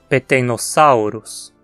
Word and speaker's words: Peteinosaurus: vai dizer ornithocheirus hein o peteinosaurus terminantes saurus como nome de muitos dinossauros a penúltima sílaba nesse caso é sal e tem um ditongo ao e assim ganhou assento peteinosaurus e esse nome aqui